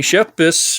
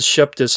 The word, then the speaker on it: Shepis: killer thing but uh Tiffany shepis hey I said it right I said Shep dis last time I met shepas by